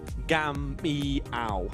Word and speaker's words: Gamiao: It's Kian Gamiao. Gamiao. So there we go. That's how we go with Gamiao now.